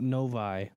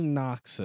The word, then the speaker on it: Noctis: up his name it's no no novi i don't think that's right no no no it's nervous noctis sunny novus sunny noxus i said it right it's nox novi is a city in